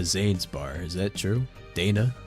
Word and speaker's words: Dana: bar is that true Dana not data yeah I think you